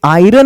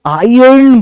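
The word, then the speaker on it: iron: हैं ना हम लोग यह आयरन नहीं होता इसको आयन पढ़ते हैं आयन आयर्न इज the correct pronunciation a most common mistake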